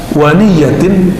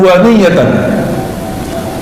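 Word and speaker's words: ونية: Ah, ini wanih ini pembacaannya ada dua. Waniyatin dan niat. Tapi ulama ahlullah mereka bacanya jihadun waniyatan.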